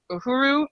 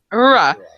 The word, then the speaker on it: Uhura: So as we talked about already, so I really enjoyed the side characters in this film, particularly Uhuru. Uhuru, is that how you say it? Uhura.